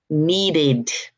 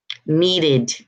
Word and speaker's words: needed: first one I need when you add the IDI is going to become needed needed you're at you're adding an extra sign and extra syllable so you're gonna say